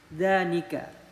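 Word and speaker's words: ذانك: sama yang di atas kalau di atas bacanya Zalika Tapi kalau ini udah menjadi dua Muzakar artinya juga sama artinya itu tapi ini dibacanya Danika tulisannya berbeda ya teman-teman dua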